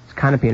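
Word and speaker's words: Kannapin: Kanapin is spelled K-A-N-N-A-P-I-N.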